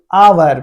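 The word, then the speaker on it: hour: इसलिए एन ठीक है इसलिए यहां पे क्या आया एन आवर फिर यहां पे देखिए आवर एच मेरा वोवेल नहीं है लेकिन हम लोग इसको इग्नोर करते हैं इसका उच्चारण पे ध्यान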